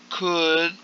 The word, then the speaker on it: could: that in this word could, please, the L, you do not pronounce the L, so you don't say could you. Okay, could you is incorrect, so the pronunciation is without the L.